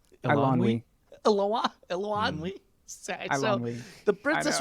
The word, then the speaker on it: Eilonwy: I'm talking myself into some good points here, because even, and I'm going to mispronounce her name, the Princess Eloane? Eilonwy.